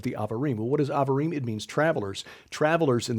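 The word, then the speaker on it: Abarim: tom horn amen to that the definition of avarem and in your bible that's spelled a-b-a-r-i-m that's the name of the mountain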